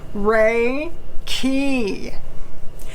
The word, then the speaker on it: Reiki: what do we know about reiki how to spell it huh okay r e i k i re key ray is the radiant cosmic energy of the